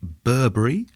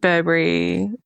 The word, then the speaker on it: Burbury: Nigel Well, that's the perfect link to your fourth choice because you have chosen Lake Burberry, excuse me if I've pronounced that wrong. Lake Burbury.